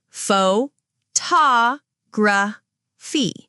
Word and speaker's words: photography: Pho-ta-gra-phy. The stress is on two. PH sounds like F, so it's photography, not photography.